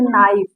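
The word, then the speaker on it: knife: देखिए हमेशा, देखिए कोई भी वर्ड आप उठा के देख लीजिए, जहां पर के बाद यन आया वहां पर के साइलेंट हुआ। जैसे नाइफ, नॉलेज, नो, नी, नॉक, यहाँ पर के साइलेंट हुआ।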